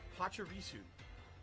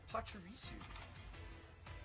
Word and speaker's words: Pachirisu: Okay, so Derich says it's pronounced Pachirisu. Pachirisu.